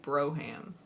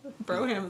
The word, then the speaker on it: Brougham: Is that how you say it? Brougham. But everybody says Brougham because it's funnier. I mean, I'm from the South. Broham is like a normal word. It's true. You just put the extra syllable in there, and it does sound right around here, huh?